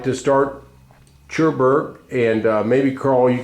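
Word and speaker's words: Cherbourg: remember anything about uh cherberg or pronounced it well sherberg poent is on the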